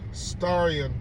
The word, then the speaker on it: Starion: Oh, so again, Starion Bank, or you could just pronounce it Star Ion altogether.